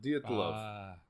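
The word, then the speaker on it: Dyatlov: You got to say it like it's a Russian. The Dietlov.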